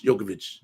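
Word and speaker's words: Djokovic: is the bkb jovic jokovic is the player you know L the D is silent yeah I'm like shanon SH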